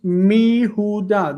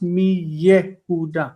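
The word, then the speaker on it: מיהודה: And it's mi huda. This is how you say from Judah. Mi huda, not mi Yehuda. Yeah, you can't. There is no ye.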